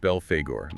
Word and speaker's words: Belphegor: with the basics right yeah his name it's pronounced Bel Fagor and he originates from ancient Assyria but it's